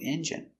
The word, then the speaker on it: engine: The car is old and the engine is old, so this car needs a new engine. Pronunciation, engine. N, j, strong j, eng, engine. Engine. Engine. Stress on the first syllable.